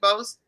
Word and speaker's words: Bost: Bost, is how to do better. And am I saying your last name right, Bost? It's actually Bost.